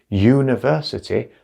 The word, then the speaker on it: university: this is not right university sounds like you university and that starts with a y sound university so